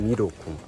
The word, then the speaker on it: Miroku: Corrigindo a minha forma de pronunciar, é Miroku.